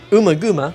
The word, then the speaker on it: Ummagumma: But 1968 and 1969, not great years for Pink Floyd albums, because next up we have Ummagumma, which, that's the way I pronounce it, Ummagumma, it's Ummagumma.